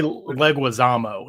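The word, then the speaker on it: Leguizamo: and John Legusmo is it how do you pronounce his surname is it legume I say leguisamo is what I say legismo leguisamo right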